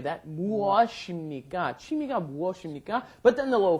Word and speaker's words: 취미: Same don't- vowel, different pronunciation. Exactly. Don't get that lazy tongue. 취미가 뭐야? 취미가 뭐야? 취미가 뭐야? Chimi.